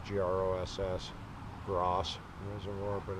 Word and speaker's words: Gross: we walked around girls reservoir above Boulder it's gr OSS Ross wasn't Laura but it's pronounced gross gorgeous clear water high mountain reservoir